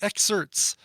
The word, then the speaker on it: Xcerts: This is a band called the Excerts. It's spelled like X-Certs.